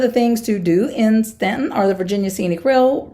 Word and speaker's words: Staunton: two more Stanton Virginia looks like Staunton but I'm pretty sure they pronounce it Stanton so we're just going to call it Stanton for now this is on the